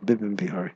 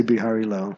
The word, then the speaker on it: Bipin Bihari: Bipin Bihari, excuse me. Sometimes you say Bihari Lal, but it's Bipin Bihari, actually. Yeah, you're right. I mean, there's an incident where Bhaktivinoda Thakur pays obeisances to Bipin Bihari, and Bipin Bihari puts